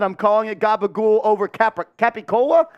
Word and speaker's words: capicola: Hopefully no one takes it offensive that I'm calling it gabagool over capicola? Capricola? Do you pronounce the unseen R in there? It's capicola. Capicola.